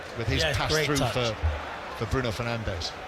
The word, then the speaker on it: Bruno Fernandes: But well played as well by Mount with his pass through for Bruno Fernandes. Or Brun Fernandes, as he calls him when they show us the correct pronunciations.